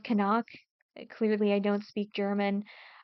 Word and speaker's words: Knock: Um, I did think it was pronounced knock, like knock, knock on wood, knock on the door, like it is in English, but apparently the recent Nose Fatu remake is pronounced kanak.